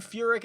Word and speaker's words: Furyk: Followed by Jim Furyk at $7,100.